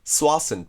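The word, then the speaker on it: Tsawwassen: Also, this very local place in British Columbia, Canada , is spelled TS, but the T is silent and pronounced SWAH-sun.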